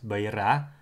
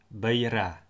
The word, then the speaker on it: byira: The vowel E is also needed to spell words like etekei and beira, where the letter I is necessary to spell the Y sound. Etekei, beira.